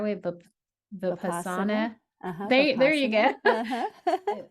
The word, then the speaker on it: Vipassana: And I'm going to say to pronounce it the right way, but Vipassana.